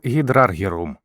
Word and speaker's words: гідраргірум: його простої речовини фтор та Меркурія простою речовиною якого є ртуть його символ звучить як гідраргірум від старої назви цього елемента що з грецької перекладається